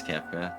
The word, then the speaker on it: Kefka: That sounded an awful like the Kefka guy from Final Fantasy before cutting the black. Did I pronounce that right? You're a Final Fantasy guy. Yeah, it's Kefa.